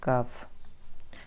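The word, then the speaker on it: cough: कारण you have got कफ। जब भी आपको लास्ट में GH दिखे तो उसका उच्चारण F के जैसा होता है।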